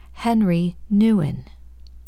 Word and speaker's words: Henri Nouwen: And here is where I landed with that pronunciation for my audiobook of the devotional journal. Henri Nouwen.